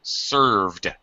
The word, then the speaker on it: served: sh system yes uh careful pronunciation of served served served not served served one syllable uh okay are you